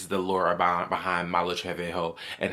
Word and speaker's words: Malu Trevejo: So, I know I was mispronouncing her name on TikTok cuz I swear like when I was younger, that's why I thought that's her name was Malu Trevejo, but it's Malu Malu Trevejo.